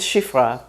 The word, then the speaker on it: Shifra: Well, if an Israeli pronounces it, it's going to be halfway between I and E. English doesn't have exactly this sound. So for example, my name is Shifra. Did I say I or did I say E?